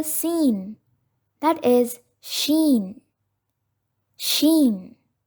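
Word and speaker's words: ش: There is another letter similar to the letter Seen, that is Sheen. Sheen. The original sound of this letter is Sh. Sh.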